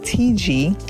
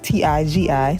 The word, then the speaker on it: TIGI: I'm going to be using the bed head, and one of you told me that it's pronounced TG instead of TIGI.